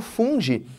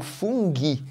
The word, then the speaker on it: fungi: aí vem para o reino fungi ou funghi também pode ser pronunciado dessa forma você tem como representantes